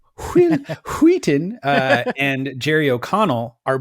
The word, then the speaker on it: Wheaton: stephen king novella but uh ironically enough will wheaton i just said his name wrong wheaton uh and jerry o'connell are both in stand